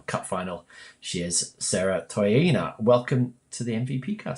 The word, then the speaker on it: Toeaina: the WB BL Cup final she is Sarah taina welcome to the MVP car Sarah hello thank you I hope I pronounced your name correctly yes yes you've got